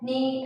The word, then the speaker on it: knee: But the every word K is silent. No, knock, knee, and knife.